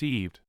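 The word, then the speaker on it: עבד: to one's enemies slaves the Hebrew word is pronounced eved it refers to a servant or a slave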